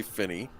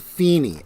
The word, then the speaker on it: Feeney: actress known best for playing the bubbly Shirley Finney on the Beloved sitcom it's pronounced Feeney and I know that's important because in the